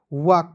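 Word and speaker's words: walk: है उसके बाद देखेंगे डब्लू ए एल के तो इसे पढ़ेंगे वाल्क डब्लू ए एल के वाक पढ़ेंगे वाल्क नहीं पढ़ लीजिएगा डब्लू ए से हो जाएगा वा और के का क लिखेंगे वाक हो जाएगा एल को साइलेंट रखेंगे जैसे टी ए एल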